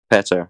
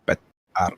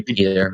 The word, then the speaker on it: Petar: How do you say your name? Petar. Petar. Okay. Or just call me Peter if you're an English speaker.